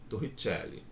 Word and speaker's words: Torricelli: Quem quiser pronunciar com sotaque, né, vai ficar como? Torricelli.